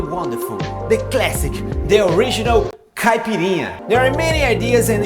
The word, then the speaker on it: caipirinha: Caipirinha, pronounced caipirinha, is Brazilian national cocktail.